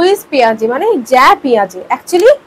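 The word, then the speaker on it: Jean Piaget: হু ইজ পিয়াজে মানে জ্যা পিয়াজে একচুি যেটাকে আমরা ইংরেজিতে লিখি জিন অনেকে জিন বলে বা যেটা আমরা বাংলাতে উচ্চারণ করি জ্যা পিয়াজেই জ্যা পিয়াজে ছিলেন একজন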